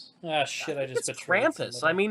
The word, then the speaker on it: Krampus: ] I just bet crampus I mean it's German so maybe I'm the wrong one but it's spelled Krampus if you say the letter A with a German accent it's it's kind of